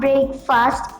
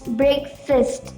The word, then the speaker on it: breakfast: See, it's not breakfast, it's breakfast. Fist, F-I-S-T, breakfast.